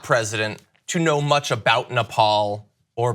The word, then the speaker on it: Nepal: of the region and he pronounced Nepal as nipple and he had to be told not to call it nipple he also pronounced Bhutan